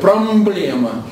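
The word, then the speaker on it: πρόβλημα: Поэтому они, сочетание «м» и «п» они превратили в «б», но «б» с призвуком «м». Понятно? Вот само слово «проблема» – это греческое слово, но пишется «промблема». Понятно? Вот так они читают – «промблема».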